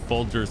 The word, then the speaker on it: Folgers: The American pronunciation of Folger's coffee is Folger.